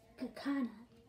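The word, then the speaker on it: Kakuna: Kinda sounds like a katana, but it's Kakana.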